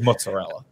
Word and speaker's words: mozzarella: He's saying it wrong. It is mozzarella.